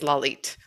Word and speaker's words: Lalit: It's Lalit. I wrote it phonetically. I just had to read my notes.